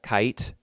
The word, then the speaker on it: Kite: that the main girl, Kite is her name, Kite. It looks like Kate. It looks like you're supposed to say Kate, but it's pronounced Kite.